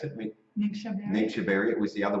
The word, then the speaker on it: Ningxia: It wasn't the do you pronounce it? Ningxia Ningxia.